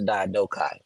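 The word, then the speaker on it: Diadochi: go back to the DOI the soluset go back to the DOI or some people like to pronounce the diai right it just means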